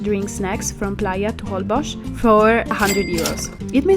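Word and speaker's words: Holbox: place you cannot miss whole box or better pronounced holbosch this is a thin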